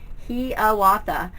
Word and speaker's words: Hiawatha: It is pronounced with a long E sound, Hiawatha.